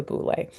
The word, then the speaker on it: boule: This is pronounced boule. I probably should have put a long mark over that E.